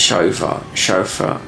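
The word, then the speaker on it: Siofra: Isn't this a weird that Sha I mean I think it's chauffra how you pronounce it. You can pronounce how you like cuz it's one of those weird ones.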